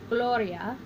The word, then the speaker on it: gloria: singular underlining the stem breaking it into its syllables three syllables so I started at the end went back one it was not long so I meant back one more and put our accent here and we have Gloria and little Oreo flipping